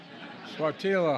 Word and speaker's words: Sáttítla: I mispronounced it the first time. Sáttítla Highlands in Northern California.